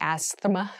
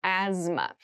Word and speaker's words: asthma: cavity asthma asthma asthma so this word has very interesting spelling there's a th in the middle but we don't say asthma we say asthma so kind of ignore that but try to remember it when you're spelling this word so asthma is a